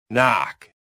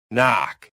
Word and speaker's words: knock: Silent K. One of my favorites. Silent K. Knife. Knife. Knife. Knee. Knee. Knee. Knock. Knock. Knock. Night. Night. Night. That K is just showing off.